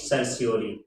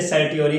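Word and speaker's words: certiorari: और इसके लिए जो लैटिन शब्द है दैट इज सर्सियोरी। सर्सियोरी, कुछ लोग इसे सर्टियोरी कह लेते हैं और कुछ लोग सर्सियोरी कह लेते हैं।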